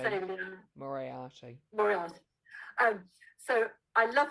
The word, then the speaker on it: Moriarty: I'm going to say this name wrong, I'm sure. Is it Moriarty or Moriarty? How do you say Moriarty. Liam? Moriarty.